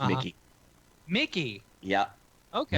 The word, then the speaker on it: Michie: Like, what do you usually call me, and most importantly, my last name, which everyone mispronounces, it's Mickey.